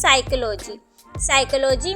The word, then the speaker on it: psychology: साइकोलॉजी में कौन सी spelling है? PSYCHOLOGY। साइकोलॉजी। अब हम इसे साइकोलॉजी तो नहीं रीड करेंगे, तो हमारे पास कौन सा वर्ड हम इसमें साइलेंट है? P यहाँ पर साइलेंट वर्ड है।